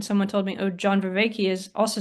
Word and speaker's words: Vervaeke: Vervaeke. Um, Well, actually, it's a Belgian name, so he's saying it wrong.